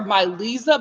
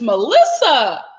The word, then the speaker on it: Melissa: oh everybody called madeline mavilin i think dominique dominguez says that everyone calls my calls her my lisa but it's melissa you know what i'm getting